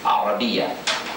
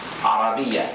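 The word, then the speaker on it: العربية: of the language although it's nice and okay to say Arabic in the English language. We want to get in the habit of saying Arabia. Arabia Arabia.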